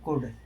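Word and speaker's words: could: तो यहां पर किसका उच्चारण नहीं हो रहा है? एल का।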